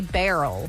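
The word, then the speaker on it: Beryl: a cat 5 hurricane I keep hearing people say barrel for that b e r y l so if I'm not saying it correctly please let me know but I keep listening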